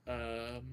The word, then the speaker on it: Mordoon: Yes, the Mordoons, which is Mardoon, Mardoon. I mispronounced that.